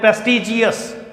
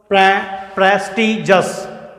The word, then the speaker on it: prestigious: प्रेस्टिजियस, बहुत सारे बोलते हैं प्रेस्टिजियस, गलत है, प्रेस्टिजियस। करेक्ट प्रोनाउंसिएशन है इसका प्रेस्टिजियस। कैसे होगा, प्रेस्टिजस, प्रेस्टिजस।